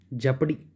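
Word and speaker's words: jeopardy: ज्योपडी मतलब होता है खतरा, जेपडी, ठीक है, ओ साइलेंट कर लो।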